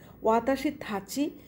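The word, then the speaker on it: わたしたち: ওয়াতাশি থাচি, এই থাচি শব্দটার অর্থ হচ্ছে প্লুরাল, বহুবচন, বহুবচন ক্ষেত্রে ব্যবহৃত হয়। আর ত্বকে আমি থয়ের মতো করে উচ্চারণ করছি, জাপানিজরা এটা করে থাকে।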